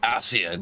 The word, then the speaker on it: Ascian: It's Ascian. That's how you say it.